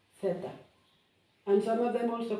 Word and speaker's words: theta: And this is theta, like th in English, theta.